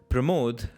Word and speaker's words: Pramod: Pramod rhymes with panache."